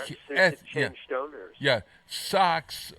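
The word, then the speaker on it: Sok's: Yeah, Sox. Okay, so it sounds like Red Sox, but it's SOK''S.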